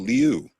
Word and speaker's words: Liu: Jifeng Louis definitely doesn't exist because that family name is spelled Liu. You'd think an investigative firm wouldn't make that mistake.